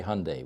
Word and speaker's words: Hyundai: Hyundai Hyundai yeah you if you want to pronounce every uh vowel in there you're going to be in trouble so just say Hyundai we do what we do in America which is ignore certain vowels but forgive us our